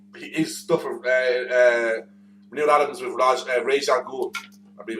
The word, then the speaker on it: Ra's al Ghul: At which point Yeah, how's the old man? Raj, isn't it? He goes, it's Ra's al Ghul. Yeah, and that's it. That's always been his fuck you love. Like that's how it's said.